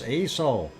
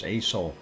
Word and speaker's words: Aso: um a doc okay is it no it's ASO um I actually uh who and I asked my Japanese friend and he had told me it was ASO asosan and mind you and